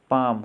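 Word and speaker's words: palm: L silent वाले words देखेंगे। पाम, हथेली।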